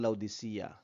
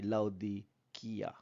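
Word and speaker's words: Laodicea: ang pag-uusapan natin ay ang laudia pero ang pronunciation niya talaga ay laud Kia laud Kia So ano ang relasyon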